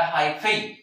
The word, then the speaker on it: hyphae: यहाँ पर भी एक क्वेश्चन बनता है एमसीक्यू में, ध्यान रखना एक वर्ड आया हाइफेई, प्रोनाउंसिएशन चेक कीजिएगा, HYPHAE। तो जो फंजाई जो ट्यूबुलर स्ट्रक्चर्स ग्रो करके जो न्यूट्रिशन लेती है, दैट स्ट्रक्चर इज कॉल्ड हाइफेई।